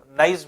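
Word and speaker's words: gneiss: तो नॉर्मली जो है आपके नीस इसको पढ़ते हैं चट्टानों को, और नाइस भी कहीं पे अगर लिखा रहे तो उसमें ये मत सोचिएगा कि नाइस पढ़ना या नीस, दोनों प्रोनाउंसिएशन इसके होते हैं, दोनों अलग अलग लैंग्वेजेस की बात है बस।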